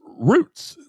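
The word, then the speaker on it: Rooths: Um, if they can get roots, which it's a roots. Did you all know that you don't pronounce the H? No. No, it's roots.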